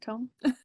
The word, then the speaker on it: Tome: Did I say it right? Tome? Nailed it.